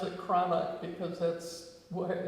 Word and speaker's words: Cranach: And and it's important to pronounce it Cranach because that's why I spelled it.